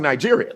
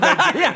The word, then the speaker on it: Nigeria: I mean they weren't mispronouncing Nigeria, you know. They weren't mispronouncing Nigeria cuz the G is soft, right?